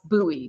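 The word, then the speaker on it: Bowie: let's see a yes buoy to rhyme with Huey so David buoy Huey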